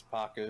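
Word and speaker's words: Pakku: an honor next one I believe you say his name as PACU yeah its pocket he's in book one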